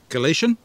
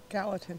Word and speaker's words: Gallatin: the state of Missouri galatian did I say that correctly Gallatin Gallatin my apologies to the residents of Gallatin Missouri I mispronounced uh Gina got it